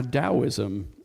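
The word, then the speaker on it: Taoism: authentic Buddhist scriptures now dosm um spelled with a t pronounced with a d according to many uh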